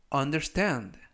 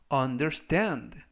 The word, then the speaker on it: understand: 이번 표현은 understand, understand, understand 라고 발음하시면 되겠고요. 이번 단어는 강세가 알파벳 A에 있습니다. 그래서 understand 라고 발음하시면 좋겠고요.